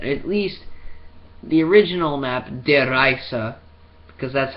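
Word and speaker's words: Der Riese: takes place, that at least the original map, Der Reise, because that's how you actually pronounce it.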